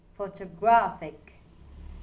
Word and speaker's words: photographic: Photographic. The stress lands on gra.